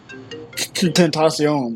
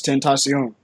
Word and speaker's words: Tentacion: It's like Spanish, Tentacion.